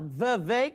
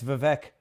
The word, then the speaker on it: Vivek: Maybe it's not Vivek. Yeah, maybe No, it is Vivek because I heard him do a rap and he said it rhymes with cake.